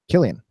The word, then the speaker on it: Cillian: How do you say that one? Killian.